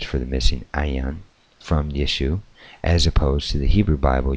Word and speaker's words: Yeshua: The first letter in the name Yeshua, Jesus, is the Yod. Yod represents the Y sound in Hebrew.